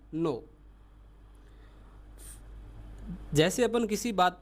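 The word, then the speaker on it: non: फिर यदि आपको नो बोलना हो तो फ्रेंच में स्पेलिंग अलग है। एन ओ एन है। बाकी प्रोनाउंस वही रहेगा। नो।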